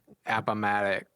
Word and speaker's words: Appomattox: Appomattox.